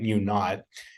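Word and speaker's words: μ₀: hypothetical so it gets a subscript zero we pronounce that mu naught and the standard deviation is the standard deviation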